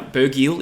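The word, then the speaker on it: Burgiel: let's talk about Kobe buril now bergil is the correct pronunciation I believe he is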